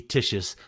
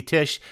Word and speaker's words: Tich: Listeners, that's a snippet of Katie Tich's latest single. It's called Stress Dreams. And you can find Stress Dreams and Crossfire, as well as her other catalog, under her name, Katie Tich.